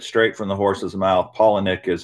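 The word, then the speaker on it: Palaniuk: all the way and he does pronounce it paul and nick it's spelled really odd and you hear a lot of people pronounce it different ways but i heard it straight from the horse's mouth paul and nick is how he pronounces his last name but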